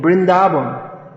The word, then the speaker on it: Vrindavan: all the same so therefore the river in bengali the river yamuna in vrindavan becomes the jamuna in brindaban and actually these sounds